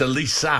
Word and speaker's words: Olise: we also have confirmation how Michael Elise pronounces his name from The Man himself there you go at least Elisa you got it wrong and I got it wrong at least so you suddenly see it's Elisa I said Michael olise